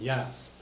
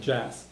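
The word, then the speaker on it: deas: That's why it's not kalin yas, it's kalin jas.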